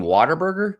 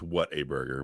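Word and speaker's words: Whataburger: Water like with an accent or something like they were from Boston or something like Yeah. Let's go to waterburger. You mean water burger?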